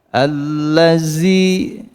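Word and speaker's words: الذين: Seperti pengucapan dal pada kalimat allazina yu'minuna bil ghaibi. Ada yang mengucap zi kan? Nah, itu salah karena bunyi desis.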